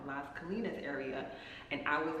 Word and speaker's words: Las Colinas: Should I go into the Las Colinas? I'm still pronouncing that wrong. Las Colinas area.